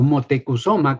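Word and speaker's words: Motecuhzoma: españoles es antepasado suyo Moctezuma o motecusoma que es la palabra la pronunciación correcta en la lengua mexicana de ese nombre por cierto hago un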